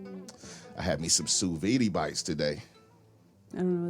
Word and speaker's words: sous vide: look you know suvi it's sous vide how you say it